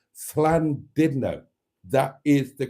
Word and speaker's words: Llandudno: not fland no it's fland didno that is the correct pronunciation whether you like it or not burned that is the correct pronunciation if you are Welsh which you aren't yes